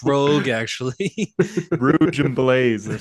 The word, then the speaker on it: Rogue: It's pronounced Rogue, actually.